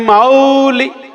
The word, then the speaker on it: मौली: भक्तामर प्रणत मौली मणि प्रवाणा। औ की मात्रा है, ओ की नहीं है। औ, मौली, क्या बोलना है? मौली।